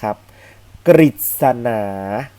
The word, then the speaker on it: กฤษณา: เสือ นะ ครับ ถ้า ตัว รึ อยู่ ตาม หลัง กข ไก่ ก็ เต่า ทอ ทะ หาน ตอบ ลา ศอ ศาลา และ สอด เสือ เรา จะ ออก เสียง เป็น ริรินะ ครับ เรา จะ ออก